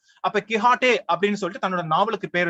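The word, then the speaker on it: Quichotte: இப்ப ரீசெண்டா, அதாவது 2019ல பப்ளிஷ் ஆன சல்மான் ரஷ்டியோட கிஹாட்டே, அவரோட ஸ்பெல்லிங் அப்படிதான் எழுதியிருக்காரு. நாவலோட பேர் பாருங்க, QUICHOTT, ஏன்னா அதான் ஸ்பானிஷ் ப்ரொனன்சியேஷன், டான் கிஹாட்டே. அப்ப கிஹாட்டே அப்படின்னு சொல்லிட்டு தன்னோட நாவலுக்கு பேர் வச்சிருக்காரு.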